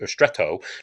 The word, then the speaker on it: stretto: you get so it's stretto is stretto to pronounce it uh more italianly um it's the melody